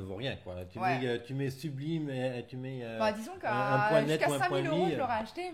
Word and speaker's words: Subleem: et le tire justement et donc je tape sublime point com donc je suis voilà une autoroute